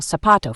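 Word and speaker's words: zapato: e in most regions the letter Z is pronounced like the s in C for example sapato for shoe in Spain particularly in castian Spanish it is pronounced like the th in thin the letter combin Q is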